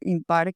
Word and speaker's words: Himpar: y terminamos decantándonos por impar, que es un verbo que es gemir con ipos, se escribe con h, no es impar ipar, sino impar e como un verbo eh de lo improbable.